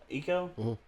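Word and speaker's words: Ico: they do great work I mean e actually eco eco I remember whenever uh Eco came out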